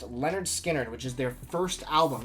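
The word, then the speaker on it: Lynyrd Skynyrd: my entire collection the first being leonard skinner's pronounced leonard skynyrd which is their first album this debut is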